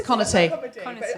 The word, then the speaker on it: Conaty: Is it Conaty? It's Conaty. Like comedy.